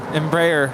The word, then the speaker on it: Embraer: had that whole discussion how do you say embryo embryo embraer ember ember ember it sounds like embers like you know on a fire america the next